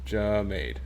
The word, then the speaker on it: Jamade: How do you say John's first name? Is it Jamade or Jamad? And if you just type out his name verbatim, that's not going to help me any. Jamade.